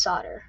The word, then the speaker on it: solder: That's how it's spelled, but it's actually pronounced solder.